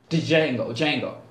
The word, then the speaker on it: Django: The movie with Tarantino and Jamie Foxx, Django, the D is silent. Django was highlighted the fighting circuit, you know, the professional fighting circuit, if you have.